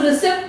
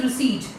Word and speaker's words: receipt: रिसीट, इसको हम रिसिप्ट नहीं प्रोनाउंस करते, the right pronunciation is रिसीट। Here P is silent, okay?